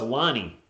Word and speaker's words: Lonnie: for three no good walker's name pronounced as now it's lonnie l-o-n-n-i lonnie walker iv also called